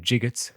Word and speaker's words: gigot: the innards, then in gigots cut the other fit for meat. How do you pronounce that word? Gigot. It's like in pieces, like of a piece of meat.